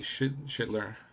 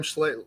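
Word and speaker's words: Schlittler: Cody Schitler, whatever his name is. You were mentioning I probably butchered that one. Uh he pitched an ace. Cam Cam Schlitler.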